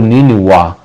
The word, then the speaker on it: Niniwa: Ele é um nome assírio, ele ocorre em Gênesis 10:11, e ele é pronunciado, por exemplo, no idioma acadiano, por Niniwa, ou seja, Vá no final.